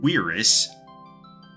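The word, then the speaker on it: cuirass: Then for draw break four is going to be our diamond quirus. Uh don't let anybody tell you it's pronounced any other way.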